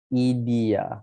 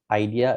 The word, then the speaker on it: IDEA: how to pronounce this it goes on as idi so it's not idea it's not idea it's idi so uh in that matter